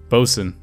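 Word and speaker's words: boatswain: Bosun. Haha, bosun. I remember how to pronounce sailor words.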